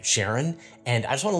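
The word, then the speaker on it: Charon: to have concerns about the way I say Sharon and I just want to let you know that I got that pronunciation from Alan Stern who is the principal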